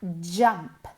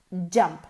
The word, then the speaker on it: jump: Saltar se pronuncia jump, jump, jump, jump, jump, no, jump. Es como una CH, ¿ok? La boca tiene que ir en la misma posición que una CH, pero moviendo las cuerdas vocales.